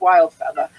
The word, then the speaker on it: Wildfeatha: It's just Wild Feather, and it's spelled WILDFEATHA. No ER. No ER in the end. It's with an A, because I am from New England and we do not pronounce R's.